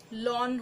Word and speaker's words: ln: ठीक है, प्रोनाउंसिएशन इसका लॉन होता है।